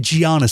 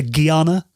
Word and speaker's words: Giana: get comments on this no one can agree on it I always say the great Giana sisters but some people say Gana yeah I say Gana